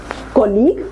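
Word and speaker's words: colleague: this rule says कि जो भी वर्ड्स होते हैं जहां पे जी यू ई या फिर क्यू यू ई आता है साथ में वहां पे जो यू होता है वो साइलेंट होता है कैन you think of any word like that okay how about this one कॉलीग मतलब कि जो भी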